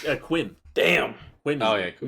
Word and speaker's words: Quim: Yeah, it's like Miro or something, right? No, it's Quim.